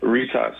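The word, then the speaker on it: Rytas: Pronounce it for me. It's actually not that hard, this one. It's called Ritas and Vilnius.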